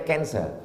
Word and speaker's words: cancer: darah menggumpal-menggumpal menjadi Cancer tulisannya c a n c e r orang barat membacanya kanser orang kita susah menyebut kanser